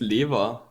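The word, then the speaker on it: Lewa: by English pronunciation sakoda is it lava or Liva it's liver of course now what Tesla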